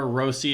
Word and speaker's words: Rossi: behind Hartman Erikson eek Marco Rossi or rosi if you can roll your RS and Freddy gdo um